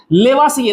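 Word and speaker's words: Lavoisier: तो विभिन्न प्रकार के प्रयोगों से आपके लेवासिए महोदय, लेवासिए देखो नाम कहीं पर इसका अलग अलग मिल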